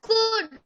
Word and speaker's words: could: हाँ ma'am कुड। कुड। तो इसमें देखिए एल भी है बट एल हम रीड नहीं करते हैं।